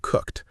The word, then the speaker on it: cooked: In the past tense is cooked. Right. We just add ED. Yesterday, I cooked a big dinner. Let's practice the pronunciation of cooked. The ED sounds like a sharp T, cooked.